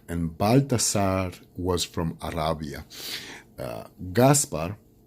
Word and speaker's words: Gaspar: Gaspar, some people call him Caspar, either with a C, K, and then in Spanish it's with a G.